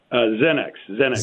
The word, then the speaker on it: Xenex: Joining me by phone, the CEO of, is it pronounced Xenex, Morris? Xenex. It's not pronounced Excellent. How it's spelled.